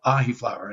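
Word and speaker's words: Ahiflower: Then I found a plant called ahi flower. They had just published some research on it. Spell that one for us. Ahi, like the fish, AHI, and then flower, FLOWER.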